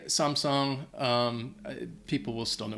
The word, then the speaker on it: Samsung: Vuitton number 11 Samsung it's a Korean company so I think the the correct pronunciation technically would be Samsung but a lot of